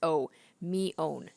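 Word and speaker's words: Mion: couple of different pronunciations so I have to remember it's Oh me own I smiled wryly oh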